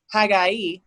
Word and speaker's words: Haggai: that I've never read, Haggai, which I didn't even know that's how you say it.